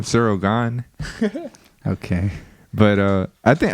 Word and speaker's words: Ciryl Gane: i think god's gone i heard people call him gun that's like i think it's sarah gone because he's french right yeah i heard it's pronounced cereal gun well you took french you should know i mean i think it is but everyone calls him sirogan okay but uh i